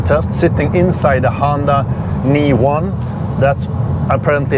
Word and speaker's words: e:Ny1: range and consumption test sitting inside the Honda kn1 that's apparently how it should be pronounced not Honda e n y1 it's